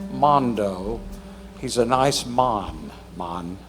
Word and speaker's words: Mando: name is Mondo sence kind of spelled like Mando but Mondo he's a nice man